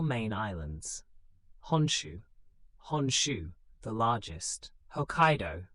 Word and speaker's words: Hokkaido: It comprises 4 main islands: Honshu, the largest; Hokkaido, pronounced Hokkaido, in the north; Kyushu, in the south; and Shikoku, pronounced Ku, the smallest of the 4.